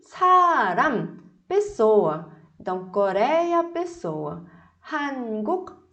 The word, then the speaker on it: 사람: E aí a gente vai colocar a palavra 사람. 사람. 사람. 사람. Percebe que eu fechei a minha boca, os lábios? Se você abrir, se deixar saram, vai parecer amor, tá?